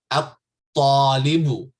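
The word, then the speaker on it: الطالب: Okay, at-talibu. I'm not pronouncing the lam here because the ta is from what?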